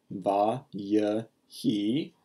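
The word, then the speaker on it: וַיְהִי: see it V he this is pronounced with three syllables VA y he when we see a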